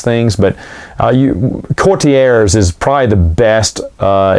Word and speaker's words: Courtiers: this in my review we call those cortiers i try to mispronounce it as best i can a lot of times on purpose we will mispronounce things but uh you courtiers is probably the best